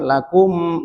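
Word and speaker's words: لَكُمْ: Ya, untuk lakum ee dia izhar syafawi. Jadi dibacanya jelas. Jangan lakum, jangan ditahan. Tapi lakum dinukum ya dijelas.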